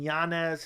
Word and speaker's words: Yanez: moving down the car Rob font versus Adrian Yanez his name is actually pronounced Yan yes but the UFC's calling me